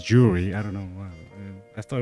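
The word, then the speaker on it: Juri: jury Yuri I said Yuri I don't know it's they pronounce her as jury I don't know I thought it was Yuri Chong Li can Gail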